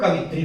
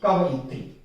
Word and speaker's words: कवयित्री: कुछ लोग कवित्री पर भी कर लेते हैं, लेकिन कवयित्री बहुत कम लोग सोचते हैं, जबकि यही सही है कवयित्री। कवि के हिसाब से वो सोच करके स्पेलिंग चलते हैं, इसलिए ये गलतियां करते हैं।